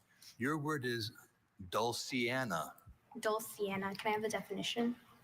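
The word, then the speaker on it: dulciana: Douliana. Can I have a definition? A soft toned organ flu stop having metal pipes of 4 foot pitch, 8 foot pitch, and 16 foot pitch. Doul or douliana.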